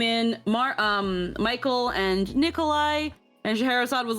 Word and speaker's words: Scheherazade: Oh, Scheherazade.